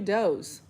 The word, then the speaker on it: does: It spells does, but it's definitely dos.